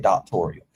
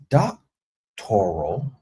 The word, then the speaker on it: doctoral: She said doctorial. And she said doctorial program on that interview with that lady from the news. Ain't it's doc- toral or doctoral, however you pronounce it, but she said doctorial.